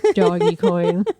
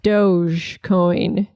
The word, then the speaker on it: Dogecoin: God by the way I now own 50,000 doggy coin I bought more baby it's going up it is going up elon's on your side elon's on it's actually it is pronounced Dogecoin that's the official Dogecoin yeah but it's doggy